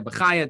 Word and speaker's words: Bachya: Look, Rabbeinu Bachya. Now again, this Rabbeinu Bachya, some people say Rabbeinu Bachaya, depending on how you pronounce it.